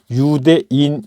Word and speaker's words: 유대: 이런 유다 락을 했고 헬라 식 발음은 유대 요 그래서 유대인 이라고 신약성경은 대여